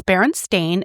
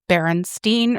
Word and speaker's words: Berenstain: It's Berenstain. It has always been Berenstain, AIN, like stain.